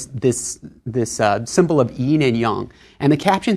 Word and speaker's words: yin and yang: Y and yang okay sometimes Americans say yin and yang uh Y and yang sounds a little more Chinese so there are these